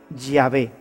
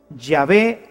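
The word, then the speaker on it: Yahvé: soy el que soy se pronunciaría usted diría ya ve ya ve te envía así es como habría sonado en hebreo antiguo lo que dios le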